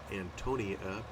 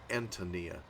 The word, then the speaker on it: Antonia: tempted to pronounce it Antonia or something like that with a stress on the o but I think the stress is on the a my Antonia and it's by Will